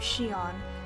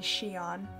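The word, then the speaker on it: Xion: member a girl named Shion yeah that's pronounced Shion even though it has an ex slowly the two wants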